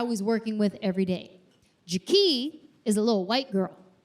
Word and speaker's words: JaKee: Her name is JaKee. Not JaKee, JaKee.